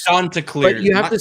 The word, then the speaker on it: Chanticleers: The Chanticleers. Chanticleers. But you have to say it while raising your pinky and drinking out of a expensive wine glass. Like this. The Chanticleers.